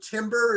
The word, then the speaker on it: timbre: Timbre, is that the term? Timbre? Timbre. It's pronounced timbre, but it's spelled like timber, but with R and E switched.